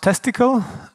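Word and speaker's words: tcltest: I contributed to that is pronounced testicle and yes I didn't come up with the word though so test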